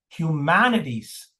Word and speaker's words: humanities: So the the primary stress is on human. There's no secondary stress sy level here. Okay. Humanities. Humanities. The word humanities has four syllables.